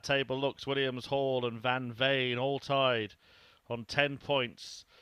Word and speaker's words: van Veen: a little pronunciation lesson so I must apologize to the friends and family of van Veen see I've said it wrong again oh what a start again van vain it is Van vain rather than van Veen and Scott Williams 100.